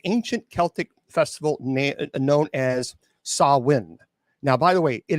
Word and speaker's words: Samhain: Okay, our story begins thousands of years ago with the ancient Celtic festival known as Samhain. Now, by the way, it is not Samhain. That is an incorrect pronunciation.